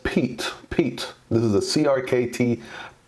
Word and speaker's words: Piet: today we're doing the review on the crkt Piet Piet so it is actually pronounced Pete Pete this is a crkt peat I know